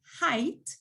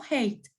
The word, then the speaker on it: height: My cousin's medium height. Recuerden la pronunciación medium height, no hate, height.